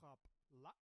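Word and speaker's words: Qapla': This is how you say success. Kapla.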